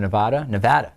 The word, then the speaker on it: Nevada: fellow Mormon senator from Nevada, I'm sorry, I apologize to all, I know that I say that wrong sometimes. Nevada is the correct way to say it.